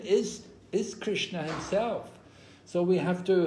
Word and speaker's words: Krishna: For example, in Russia, Russian people will say Hare Krishna, right? They don't say Krishna, they say Krishna, Krishna.